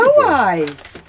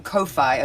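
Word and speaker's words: kōwhai: Now we call them kowai, a kowai tree, because WHs are pronounced like Fs in New Zealand. So we used to call it kowai when I was growing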